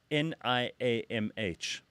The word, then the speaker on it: Niamh: And then we've got Niamh. Neve. Yeah. Yes, where's the V? I know, well done. Where's the... This is what I'm saying. No, so BH is a V in Irish.